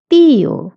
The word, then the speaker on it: tío: Tío means uncle. Tía means aunt. Okay? And put an accent on the I and you have to stress on it. So tío, tía.